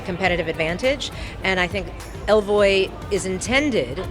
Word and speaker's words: Ellevoy: it fun from so the name is elvoy and it's French for she goes because we believe that